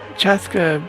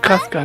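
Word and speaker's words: Chasca: That Chaska pronunciation is a little weird. You're invited Oh, too, this one was Aneva. Casca, not Chaska.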